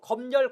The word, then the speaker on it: 검열: 특히 이거 검열, 검열, 금융, 금융도 모두 가능합니다. 그래서 꼭 외우셔야 합니다. 특히 이거 시험에 잘 나옵니다. 검열의 발음법, 금융의 발음법. 니은을 첨가시키는 검열, 금융과 니은을 첨가시키지 않고 발음하는 검열, 금융 모두 맞습니다.